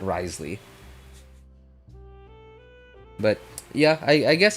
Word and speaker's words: Wriothesley: number of people that call him Risley uh instead of risely which was what I heard them say his name as in the special program um I might as